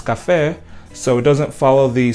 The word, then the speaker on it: café: And then this word, we do not pronounce café, we pronounce café.